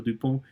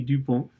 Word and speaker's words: Dupont: otro de los casos, pero se pronuncia en francés exactamente igual ese apellido, Dupont y Dupont.